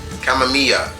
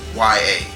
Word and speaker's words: Kamiya: Once again, his creator's name is Hideki Kamamiya. I'm probably butchered that last name. Is Kamiya. That's how he spells his last name.